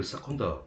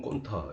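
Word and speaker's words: स्कन्द: 스칸다의 발음이 원래 사컨다 혹은 건타 이 두 개를 쓰는데 이 건타의 건을 갖다가 위로 잘못해서 위타가 된 겁니다.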